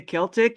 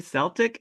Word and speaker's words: Celtic: the quarter, they say Celtic. You go around this quarter, they say Celtic." And I was like, "Oh." And then I looked it up and then I was like, "Oh, both pronunciations are acceptable."